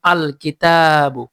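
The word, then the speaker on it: الكتابُ: আলিফ লাম যুক্ত হলে লাম হরফটি স্পষ্ট ও আলাদা উচ্চারিত হয় স্পষ্ট ও আলাদা উচ্চারিত হয় আলিফ থাকলে যেমন আল কিতাবু আল কিতাবু আলিফ এটার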